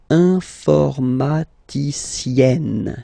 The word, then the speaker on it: informaticienne: And you get the sound informaticienne, sienne. Remember E and then double N, or then it could be double L or double consonant here. You open your E, so it's E. Informaticienne.